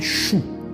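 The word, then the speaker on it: Shu: et du vent et le nom chou s su ch qui est prononcé chou comme chou comme C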